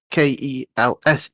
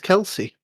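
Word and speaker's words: Kelce: just kels and it's spell as in kels k e l s e but he spells it k l k e l c e but yeah it's travis kels where we are not travis kelsey okay there we um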